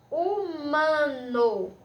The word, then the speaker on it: humano: a letra seguinte né e humano como vocês perceberam que a gente tem apenas o som do nada do h porque o adr ele é mudo certo pessoal